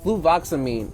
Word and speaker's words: fluvoxamine: This drug is the fluvoxamine. I'm saying it wrong. Fluvoxamine.